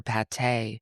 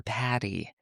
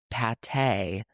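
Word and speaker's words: pâté: a plate of liver pate, which Mario pronounced liver patty.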